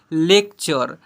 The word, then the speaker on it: lecture: से पढ़ते हैं, NATURE नेचर, LECTURE इसे पढ़ेंगे लेक्चर, FUTURE फ्यूचर, CULTURE इसे पढ़ेंगे क्लचर, ऐसे पढ़ेंगे क्लचर।